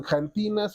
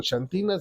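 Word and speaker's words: xantinas: se llaman jantinas o chantinas, depende como lo quieran pronunciar, el café, el té,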